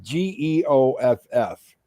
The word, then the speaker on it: Geoff: If you get a chance, and it's spelled G as in George, Geoff, Jeff Castellucci. He's got a lot of good stuff.